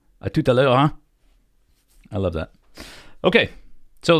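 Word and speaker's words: hein: word I learned about the way they say huh like a uh but when you say it in French it's h e i n huh I love that okay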